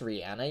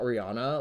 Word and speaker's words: Rihanna: rihanna does or rihanna i'm sorry it's actually pronounced rihanna y'all um it's not rihanna like a lot of us say it if